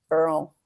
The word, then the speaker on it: Earl: Earl. Yes, that's the pronunciation for anybody dying to know, other than me, because I was really dying to know.